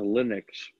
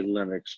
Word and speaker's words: Linux: looked at that through I apply that to Linux so I've been saying I've finally given up and I say Linux but when um if when the operating system first started getting notoriety I call it Linux or I'm uh Linux because it was invented